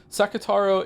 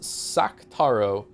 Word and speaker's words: Sakataro: to confuse you more, do you know that under some situations, some vowels become silent? Chat told me that's not the case. For instance, Sakataro is actually pronounced Saktaro.